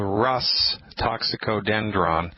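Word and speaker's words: Rhus toxicodendron: spell it it's a Latin name it's called Russ toxicodendron Wow I know here's how you spell it all right it's easy it's are like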